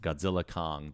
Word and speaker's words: Godzilla x Kong: this film is pronounced Godzilla Kong the new Empire the x is silent this is a movie